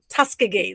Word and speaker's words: Tuskegee: Tuskegee.